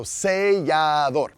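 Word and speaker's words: sellador: But you can see seal right in there. See L, right? And then adore at the end. So seador.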